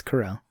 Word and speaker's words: Carell: i love steve carell is it corel or is it carrot that's correlated really yeah i think i think i've been saying his last name wrong for years no no it's it's corral okay um 40 year